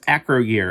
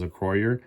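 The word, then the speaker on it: Acroyear: I kept on arguing, no, it's acro-year. It's acro. See, like acrobat. So it's acro-year. And I was putting the wrong, I guess, accent on the wrong place because it was acroyer, not acro-year.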